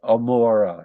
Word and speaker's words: Gomorrah: It was what in Hebrew is called an ayin, a particular letter of the Hebrew alphabet, which itself comes and reflects two different sounds. A sound much like an unpronounced letter, almost you would say Amora if it were that, but also what you might call a much stronger guttural, like Gomorrah, and that's why the